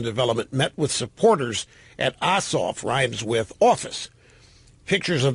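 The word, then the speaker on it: Ossoff: is rallying support for John oof rhymes with who is the leading Democrat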